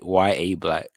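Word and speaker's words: Yahya Black: It's like it took me a minute, but it's YA Black.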